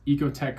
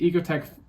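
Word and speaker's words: Oeko-Tex: So, as long as it's Ecotech certified and it's spelled ocoteex, so it's kind of I think it's pronounced ecoteex though.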